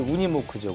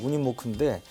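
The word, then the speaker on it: Unimog: 근데 생긴 거는 좀 허름하게 생겼는데 하여간 굉장히 이렇게 파워풀한 건데 독일식 발음은 이제 우니모크죠. 우니모크인데 터미네이터로 유명한 아놀드 슈왈츠네거 하면 험비만 생각하는데 험비는 허머만 생각하죠. 근데 사실은 이 슈왈츠네거가 또 유니모크로 애용을 한다고 그럽니다.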